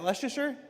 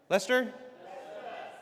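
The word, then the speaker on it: Leicester: Is that Leasher? Lester.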